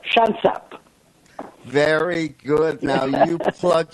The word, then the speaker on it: Shansab: Is that how to say it, by the way? Shansab. Just make it simpler, Shansab.